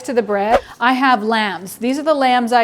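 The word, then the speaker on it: lame: I have lambs. These are the lambs I use. A lamb is the thing that you use to cut or score the bread. L-A-M-E, but pronounced like bah.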